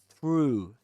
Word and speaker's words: through: One of the keys to be able to pronounce the first word is to do this with your lips. Ooh. Ooh. Push them forwards. You say through. Through. Through. Don't forget about sticking your tongue in between your teeth.